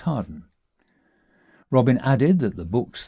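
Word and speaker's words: Hawarden: surname spelled Howard, but as with the village near Dodleston, locally pronounced Harden.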